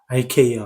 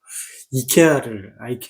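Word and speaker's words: IKEA: 현재 할리우드라는 이런 쪽에 컨텐츠를 갖다 휩쓸고 있으니까 ikr 같은 경우 또 마찬가지고 hnn 하는 죄송합니다 제가 영어식으로 발음을 해서 이케아를 아라고 해 이케아 그대에 뭐 영화에서는 토르 토르는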